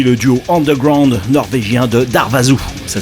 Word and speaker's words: Darvaza: de Shadowmass, puis le duo underground norvégien de Darvaza, ça s'écrit Darvaza.